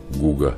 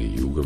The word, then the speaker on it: Hugues: Сегодня Гуго Мерль, или Юго Мерль, так произносится, входит в список величайших художников Франции и всего мира.